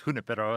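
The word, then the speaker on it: Junípero: his name junipero junipero i'd say junipero but it probably was hunipero at the time yeah i i don't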